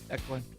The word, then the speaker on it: Declan: It's spelled D-E-C-L-A-N. Declan.